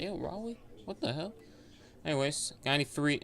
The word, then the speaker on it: Raleigh: Raleigh. Riley. That's what That's how you say it. Raleigh.